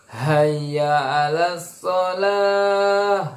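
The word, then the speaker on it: حي على الصلاة: Lalu lafaz hayya alas, ya ada yang mengatakan hayya alas shalah. Nah, ini keliru sekali ya. Sedangkan dalam lafaz yang benar adalah huruf ha sama ain. Hayya alas bukan hayya alas ya, tapi hayya alas shalah seperti itu.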